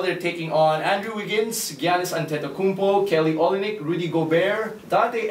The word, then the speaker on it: Giannis Antetokounmpo: They're taking on Andrew Wiggins, Giannis Antetokounmpo, Kelly Olynyk, Rudy Gobert, Dante Exum, Dennis Schroeder,